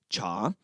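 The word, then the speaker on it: 茶: In the Mandarin and Cantonese dialects, the pronunciation is cha.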